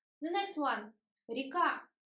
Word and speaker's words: река: Река. We write ye, but we pronounce e. Река.